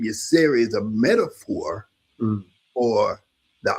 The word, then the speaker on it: Yirser: that, he said that his interpretation of the word Asar is Y-I-R-S-E-R, and it's pronounced Yirser.